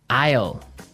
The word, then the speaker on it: isle: our second word now isle is a i s l e Isle Isle it's a tricky word it's sounds like the contraction of I will yeah but it's spelled so